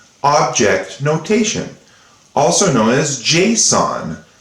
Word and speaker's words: JSON: notation also known as json is how i pronounce it kind of like the psychopathic killer with the mask on his face jason this is json now